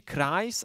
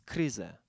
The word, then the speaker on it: Kryze: Ja mówię Christ, ale ty mówisz, że to jest kryze. Chris. Chris taki jak Chris, tylko bardziej przez Z i Y.